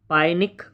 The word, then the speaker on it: pyknic: अगला क्वेश्चन आपका, who classify the पाइनिक in personality. ठीक, इसमें पी जो है वो थोड़ा सा साइलेंट भी होता है, नाटे भी करके, नाइटिक